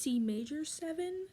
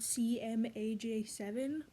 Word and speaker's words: Cmaj7: Just wanted to quick pop in and say that I'm stupid because it's pronounced C major 7, not C, M, A, J, 7.